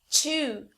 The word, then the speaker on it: chew: Então, em inglês, a palavra shoe significa sapato, mas a palavra chew significa mastigar.